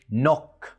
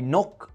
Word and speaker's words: knock: في الحالة دي حرف الk بيكون silent، يعني ملهوش صوت. فالصح ان احنا كنا نقول no knife knock، وهيبقى النطق الصح للجمل